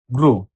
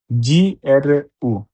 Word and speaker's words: gru: gua, N-T-I, guanti, inglese, I-N-I, G-L-L, S-S, inglese, gru, G-R-U, gru, attention. যদি জি এর পরে আক্ষা থাকে তাহলে এ এবং ই থাকলেও উচ্চারণ বর্গীকার্য হবে না বরং গ হবে।